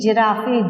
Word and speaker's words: giraffe: G, giraffe, G-I-R-A-F-F-E, giraffe.